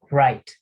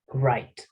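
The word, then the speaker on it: write: Entonces, aquí pues hay una, en inglés hay muchas peculiaridades, hay algunas letras que van a ser mudas, ¿sí?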